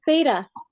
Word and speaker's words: theta: Oh, that's called a theta. Oh, It's called a theta. Like，你看啊，看我怎么发音呢？就把舌头放在你两个牙齿中间，theta.